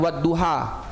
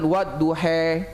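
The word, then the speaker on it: والضحى: Contoh lain, bacaan wadduha, itu riwayat Hafiz an Asim, kita bacanya ha, wadduha. Walaupun ada riwayat yang lain membaca dengan wadduhe, kita tidak boleh, wah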